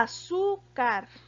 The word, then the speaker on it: azúcar: tengo que tildar a azúcar tiene el acento en la sílaba sur que en este caso está en la penúltima posición o en la segunda